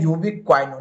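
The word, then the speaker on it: ubiquinone: तो इसको बोलते हैं यूबीक्वाइनोन, यहाँ पर आपका ONE यानी कि बन लगने वाला है।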